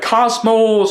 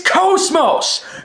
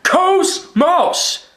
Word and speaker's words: KOS-MOS: And by the way, people say her name wrong. They always say like like Cosmos or Cosmose, whatever. It's KOS-MOS. KOS-MOS.